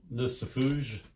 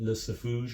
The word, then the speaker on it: Lucifuge: I I always am and and prone to put a French spin on that. Just the way it's it's spelled. L U C I F U G E, Lucifuge or Lucifer. I don't know. I I'm tend to say Lucifuge. Uh Danzig two, yeah, 1990